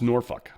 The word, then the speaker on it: Norfolk: She's like, "It's pronounced Norfuck." And I I was like I just I keyed in on the last part. I'm like, "Norfuck?" And she's like, "Nor Norfuck." And I'm like, "Norfuck."